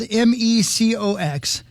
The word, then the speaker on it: Mecox: It's spelled MECOX.